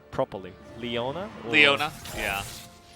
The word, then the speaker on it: Leona: if your Luna Leona so how do you pronounce it like properly Leona Leona yeah correct okay so yeah I mean Chris